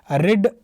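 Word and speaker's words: read: this book तो देखिए रिड रेड रेड इसका प्रोनंसिएशन चेंज हो जाता है बाकी स्पेलिंग सेम रहता है तो थर्ड फॉर्म रहेगा तो रेड बोला जाएगा व्हाई हैज राम रेड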